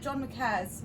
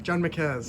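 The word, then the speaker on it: John Marquez: John Marquette's? John McCares. John McCaz.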